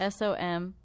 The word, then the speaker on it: Somnium: S-O-M-N-I-U-M. It's phonetic. It's just a weird word.